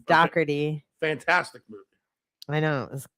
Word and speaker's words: Dougherty: We were watching The Godfather for a hot second before we came in here, and so that's how they say my name in New Jersey and Philly. Dougherty.